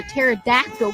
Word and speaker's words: pterodactyl: you hear a pterodactyl going to the bathroom guess the p is silent Holly the Thunder radio